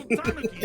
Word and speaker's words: tanuki: And of course, we can't forget about the old Japanese spirit, which is where the adorable little tanuki statues come in. But it wasn't easy. Apparently it's pronounced Tanuki.